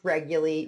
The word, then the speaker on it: Reguly: mean by that shortly hi Rick yeah it's pronounced regularly nobody ever gets my name right really well